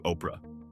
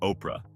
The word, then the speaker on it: Oprah: What she inherited was a name that was actually supposed to be Orpa from the Bible, but people kept pronouncing it Oprah.